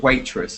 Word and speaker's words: waitress: So be careful of the pronunciation because it sounds a bit like witness, but waitress, yeah.